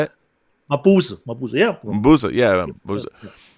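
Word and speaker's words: Mabuse: Mabusa, yeah.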